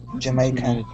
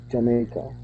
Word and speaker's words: Jamaica: Jamaica. Yeah. Okay. So this is pronounced Jamaica. Jamaica.